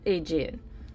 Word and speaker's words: Aegean: Think of the Aegean Sea. That's how that's pronounced. Aegean.